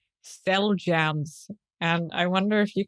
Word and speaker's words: Xeljanz: There's another one that I found called Cell Jams. And I wonder if you can guess how it's spelled.